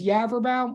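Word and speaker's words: Yaverbaum: again my name is yaverbam which like I mean like there's definitely more ways to say wrong than right and if you it you ever bound it like rhymes with cadaver town if that helps anybody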